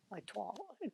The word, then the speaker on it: toile: So how do you say it, Nick? A toile. A toile. You gotta get that tongue going.